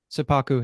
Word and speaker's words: seppuku: it would have been, how do you say it, Senpaku? Seppuku, yeah. Not Seppaku.